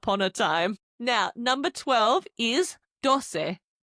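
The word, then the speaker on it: doce: Now number 12 is dose. D O C E dose. It's like dos with a little se on the end.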